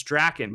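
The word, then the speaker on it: Drakkon: And I was like, it's Draken. But I'm also thinking to myself, why does he need to know that? And then I see him turn and say Draken to Aaron Cahill, and then Aaron says to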